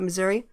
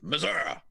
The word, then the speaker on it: Missouri: missouri lawmakers talking about missouri missouri lawmakers pass bill yeah say it properly no i pronounce the i that is pretty properly uh pass a bill